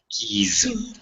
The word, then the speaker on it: keys: okay you got that how about key key z z sound keys boy boys boys guy